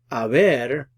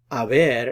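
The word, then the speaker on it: haber: Aver is the verb that we use with compound verb tenses as an auxiliary verb so notice it's the H is silent you don't pronounce the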